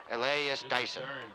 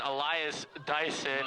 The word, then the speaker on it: Elias Dyson: and make that tackle elas Dyson Elias Dyson correction Elias Dyson as Michael does not know how to pronounce his name but it is fine